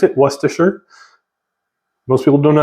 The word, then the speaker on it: Worcestershire: then for Worcestershire sauce and that's how you pronounce it Worcestershire most people don't know how to pronounce it it's Worcestershire and I put a little bit of this